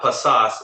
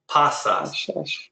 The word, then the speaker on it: pasas: good put the right you're saying pasas it's not pasas it's pasas stress goes on the second to last syllable right two pasas cont